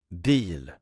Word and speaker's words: bil: Deal.